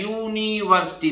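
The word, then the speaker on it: university: तो है ठीक है लेकिन इसका उच्चारण क्या है यूनिवर्सिटी देखिए यू तो यह तो व्यंजन की ध्वनि है तो ध्वनि का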